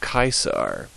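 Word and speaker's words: Caesar: uh his full name would be gas Julius kaisar moving on H uh always H um as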